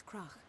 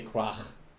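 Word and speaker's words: Crach: I feel bad for the voice actors that needed to say Krach. Because the sound at the end is so weird for English natives to say. It's easy for me because, well, I have this I have this sound in my language, like most of the sounds that exist.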